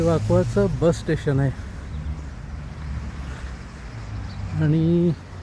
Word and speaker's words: Vacoas: त्याचं spelling VACOAS असं जरी होत असलं तरी याचा उच्चार वाकवा असा होतो.